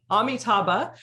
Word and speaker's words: Amitabha: And you're the founder and medical director of, I'm going to say it right. It's Amitabha. Amitabha, you're the medical director of Amitabha.